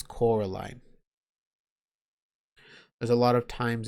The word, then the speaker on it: Coraline: times in the book the adults that live in that same house get her name wrong they keep calling her Caroline and she keeps having to remind them it's Coraline there's a lot of